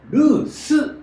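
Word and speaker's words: loose: でもそれは全部実はルーズではなくてルースなんですね。発音注意してください。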